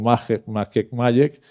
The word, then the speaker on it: MAGEC: MAGEC, como probablemente la pronunciación en español debe ser algo así como MAGEC, y se refiere, como